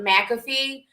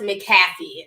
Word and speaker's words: McAfee: and a lot of people always call it mcafee but it's pronounced mcafee so i have to like kind of reprogram